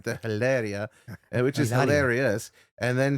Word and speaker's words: Hilaria: My name is Hilaria. Faker, the H is silent.